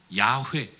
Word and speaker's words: 야훼: 스스로 있는 자라는 단어의 히브리어 표현이 야훼, 여호와라는 거예요. 스스로 있는 자라는 문구에 히브리어 자음만 따서 발음할 때 야훼라고 얘기하는 거고, 거기에 모음을 붙여서 부르는 것이 여호와라고 부르는 겁니다.